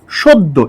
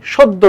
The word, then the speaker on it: সদ্য: কারণ দেখেন, যেহেতু জ ফলা আছে, তার মানে এর আগের যে বর্ণ স, এর সাথে একটা ওকার উচ্চারণ হবে। ঠিক আছে? সদ্য, এরকম হবে, সদ্য তোলা ছবি।